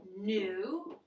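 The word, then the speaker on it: knew: Past tense, new. That K is silent, like old and new.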